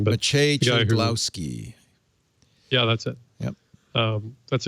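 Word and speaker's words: Maciej Cegłowski: I don't want to try and pronounce his actual name, but Maciej Ciglowski.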